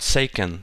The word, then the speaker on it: Seiken Densetsu: If you think about it in game terms, like I like to do, you have the game series Seiken Densetsu, but it's not seiken, it's seiken. Seiken densetsu.